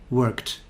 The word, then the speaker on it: worked: then rule number three if the regular verb ends in an unvoiced sound then the ending is t for example work worked stop stopped wash washed